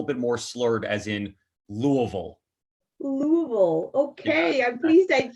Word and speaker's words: Louisville: whiskey is is bourbon so even though it's spelled louiseville the way that we're instructed to to say it and to enunciate it is to pretend as though you've had a couple of bourbons and then try to